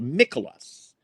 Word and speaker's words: Mikolas: Mikolas? I am unfamiliar with how to properly. Mikolas.